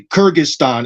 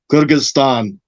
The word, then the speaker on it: Kyrgyzstan: We would say Kyrgyzstan in English. Kyrgyzstan is the more Russian way to say it. And if you just say it like in English, Kyrgyzstan, it sounds amazing.